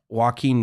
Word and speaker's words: Joaquin: Also, how are they pronouncing his name on the live broadcast? They just kept saying Waco. Waco. Like, yeah, is that like Joaquin. Is that Didn't a nickname? you just say Waco or no?